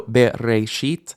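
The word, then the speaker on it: בְּרֵאשִׁית: So bereshit, your chin should hit your hand 3 times if you're really enunciating those vowels.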